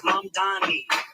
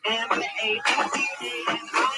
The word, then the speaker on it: Mamdani: The name is Mamdani. M-A-M-D-A-N-I.